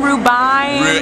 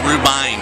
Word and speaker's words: Rubinus: Rubine? Rubine. Right. Lance, that's everybody what I thinks thought. It's Rubin, but it's Rubine.